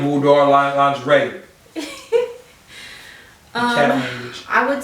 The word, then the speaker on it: boudoir: boudoir. I know I'm already saying it wrong. Boudoir. Yeah, now you got it.